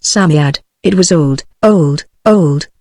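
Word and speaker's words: Psammead: was a samed or san faery samed is pronounced Samad it was old old old and its birthday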